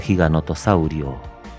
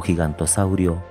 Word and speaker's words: giganotosaurio: Fósil de giganotosaurio. Su nombre a menudo se pronuncia mal como gigantosaurio, un nombre que sería